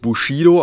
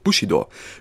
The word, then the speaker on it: Bushido: am Bushido ganz wichtig wird nicht Bushido ausgesprochen wenn ein Deutsch Rapper seinen Namen tatsächlich Bushido aussprechen sollte macht er das falsch im japanischen sind alle Silben gleich lang also Bushido Weg des Kriegers so